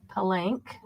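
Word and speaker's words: Palenque: And C is called pelank. Let me know when you're ready. I'll spell it for you. Okay. P P A L E N Q U E. Palank.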